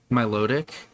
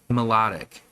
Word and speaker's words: Milotic: Dude, I still go back and forth because in my head I always read it as Milotic. And then I go, that sounds weird. And then in the show, I think they pronounced it more like melodic, like a pun off of melody.